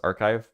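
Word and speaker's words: arXiv: Um it's pronounced archive because it's a meme.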